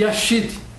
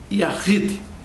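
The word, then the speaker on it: יחיד: Eles têm 2 palavras, Errad, para a unidade composta, e para a unidade absoluta, escreve-se Yashid. A pronúncia é Yahid.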